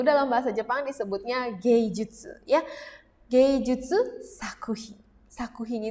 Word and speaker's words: 術: Ya, diingat-ingat ini dibacanya jutsu.